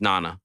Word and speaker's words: Nana: was a sensitive person my proper pronunciation my name is Nana okay on the show